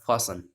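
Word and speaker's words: fasten: ये देखो फास्टन है, तो इसमें भी देखो टी साइलेंट है, ये क्या हो जाएगा, फासन, फासन।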